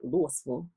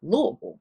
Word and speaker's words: Louisville: check me like, Angie, it's not Louisville, it's Louisville.